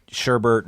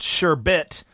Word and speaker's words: sherbet: all it's actually garbage it's actually uh pronounced sure bit and the sorbets it's